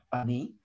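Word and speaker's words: אני: а хата Потах и поэтому ударение падает на и Ани но есть несколько мест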